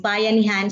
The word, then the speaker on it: bayanihan: Bayanihan. Bayanihan. Bayanihan. All right. I think, bayanihan or bayanihan. So you pronounce that syllable by syllable so that it would be easier.